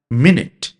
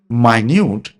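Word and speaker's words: minute: যেমন মিনিট, একে যখন আমরা মিনিট বলি তখন এর মানে হচ্ছে যে সময় মাপার জন্য যে মিনিট আমরা হিসেব করি সেই মিনিট। কিন্তু যদি আমরা একেই উচ্চারণ করি মাইনিউট, তখন তার অর্থ হয়ে যাবে ক্ষুদ্র বা অতি স্বল্প।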